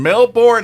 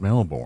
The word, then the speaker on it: Melbourne: But when I got back, you were in Melbourne, and I had that whole. It's not Melbourne. Yeah. It's Melbourne.